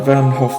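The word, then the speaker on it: Van Gogh: It had to be the Van Hof Museum, as the Dutch would pronounce it.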